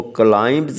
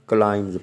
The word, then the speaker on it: climbs: CLIMBS, इसमें B silent है, इसको क्लाइंब्स नहीं पढ़ना, क्लाइंब्स पढ़ना है.